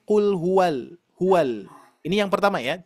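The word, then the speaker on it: قُلْ هُوَ: Bukan kul huwau. Perhatikan ya, bukan kul huwau tapi kul huwal.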